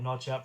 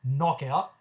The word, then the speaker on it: Noch Out: I've heard some people call it Notch Out because it would look like Notch, except it's missing the T in the middle. But it's pronounced Knock Out in collaboration with Bladnoch.